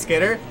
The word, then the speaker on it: Sqiddwr: is how it's spelled it actually is pronounced skitter but call him squitter